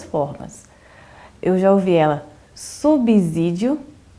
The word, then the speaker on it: subsídio: Pois é, Thaís, é interessante porque a regra geral da língua portuguesa, o S ele tem som de Z quando ele está entre duas vogais.